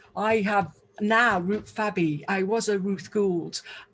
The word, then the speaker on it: Fabby: to a Gould, and now I've got an extra syllable. I'm a Fabby, and I love being a Ruth Fabby because I'm fab.